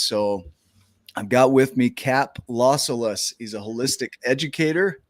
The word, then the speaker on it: Cap: So welcome to the show, Cap. Thank you for having me. And I love it because it's Cap with a silent T at the end.